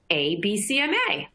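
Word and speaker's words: Abecma: pretty witty name to it they call it abcma it's spelled a b e c m a just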